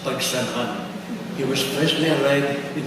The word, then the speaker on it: Pagsanhan: priest who baptized me Pagsi because he couldn't pronounce Pagsanhan. He was freshly arrived in the Philippines from the States, and he could not for the love of him pronounce Pagsanhan.